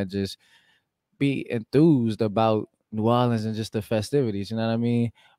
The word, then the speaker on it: New Orleans: New Orleans. Say it. New Orleans.